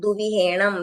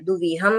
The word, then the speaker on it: दुविहं: बाद है दुविहं तिवहणं यहां पर लोग दुवहणं तिवहणं कर देते हैं या फिर दुहम तिवहम कर देते हैं तो ऐसा नहीं है दुविहम है और तिवहणं है न